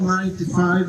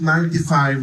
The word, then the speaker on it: Saab 95: And it's very important you pronounce it 95, not 95, because this is the model name for them.